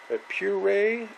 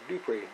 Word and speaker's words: Dupray: One is a Puray, I think it's spelled P-U-R-A-Y, neat steam cleaner. A Dupray, that's what it's called, Dupray.